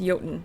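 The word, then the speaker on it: Jotun: Um, it's just weird is is I've always been taught it's pronounced yoten. So J is in like a Y.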